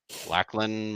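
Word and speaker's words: Lachlan: According to Fox uh corporation uh CEO uh Lacklin Murdoch that's how you say his name.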